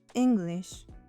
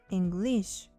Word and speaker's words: English: It's always pronounced English, not English.